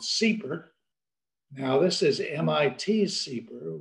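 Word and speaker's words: CEEPR: and environmental policy research affectionately called seeper now this is mit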